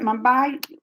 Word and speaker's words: Mumbai: Mumbai?